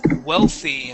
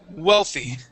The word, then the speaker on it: wealthy: uh with the w instead of saying VY pronouncing a v we want to pronounce an oo sound saying oy wealthy wealthy wealthy wealthy wealthy good